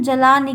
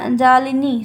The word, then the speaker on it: जालिनी: इसको हम जलानी कहते हैं, जालिनी, सॉरी क्या कहते हैं?